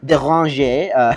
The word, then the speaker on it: Déranger: You've got Derange or Déranger, apparently is how you say that.